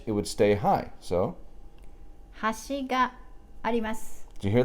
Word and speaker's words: 端: then bridge has she gave us an edge has she got he must okay so thank you bye-bye